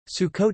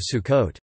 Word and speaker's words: Sukkot: Sukkot Hebrew, Swau or Sukkot, Sukkot, commonly translated as Feast of Tabernacles, traditional Ashkenazi pronunciation Sukkos or Sukkos, also known as Chag